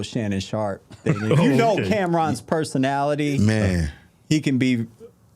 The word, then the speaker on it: Cam'ron: Cameron. Yeah, Cameron.